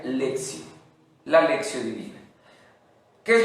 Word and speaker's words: lectio: se pronuncia leaks y aunque se escribe lectio se pronuncia lección la lección divina qué